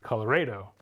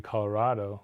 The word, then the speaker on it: Colorado: the Spanish pronunciation Colorado you don't have a Caddo so it should be Colorado like avocado Lake tostada right Santa Ball says that's